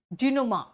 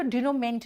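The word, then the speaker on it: dénouement: Next epilogue, बेटा इसी का सिनोनिम है डिनोमा। बेटा डिनोमेंट नहीं कहना, MENT यहाँ पे मा प्रोनाउंसिएशन है, डिनोमा।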